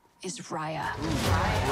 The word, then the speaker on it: Raya: Raya. Raya, sorry, we were saying it wrong.